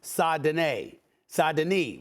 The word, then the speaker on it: Saint-Denis: I want to make sure I have his name pronounced correctly. Saint-Denis, rather.